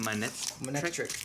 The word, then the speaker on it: Manectric: Manectric.